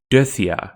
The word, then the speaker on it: dithya: the word for murderer is dithya three syllables not death yah ni is kneel not